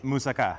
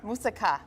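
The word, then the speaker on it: moussaka: today uh one being hummus and the other pronounce it for me musaka musaka musaka is a classic Greek dish okay um that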